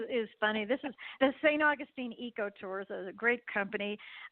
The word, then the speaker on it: St. Augustine: It's really fascinating, the attention to detail when you go to places like St. Augustine.